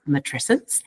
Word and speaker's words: matrescence: So we pronounce it matrescence.